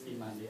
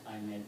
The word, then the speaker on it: Imandi: My name is Imandi, not Aimed. Sometimes people just pronounce that way.